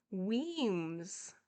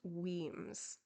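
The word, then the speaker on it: Wemyss: single time let's see let's see how to pronounce the name wenis women's okay Weems it is thank you noodles thank you okay it's pronounced Weems okay I can I can say that hello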